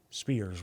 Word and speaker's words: Spiers: Because I'll give you an example, a surname, Spiers. Spears would be my... Spires. See? Importance of getting it right.